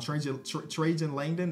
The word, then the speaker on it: Trajan Langdon: Trajan Langdon. That's how you pronounce his name.